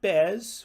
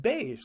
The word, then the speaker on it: beige: Beige. Not bez or beige, but just beige like the English color word.